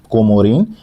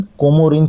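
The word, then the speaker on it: Comorin: इसी कुमारी अंतरीप को उनका उच्चारण कोमोरिन के नाम से आता होता था।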